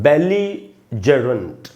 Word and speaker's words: belligerent: सबसे पहले प्रोनाउंसिएशन सीखते हैं। तो ये है दोस्तों बेलीजरेंट। आप ध्यान से देखेंगे, ली में जो ई है उसको मैंने अंडरलाइन किया, यानी वहाँ पर स्ट्रेस है, यानी वहाँ ज़्यादा देर तक रुकना है।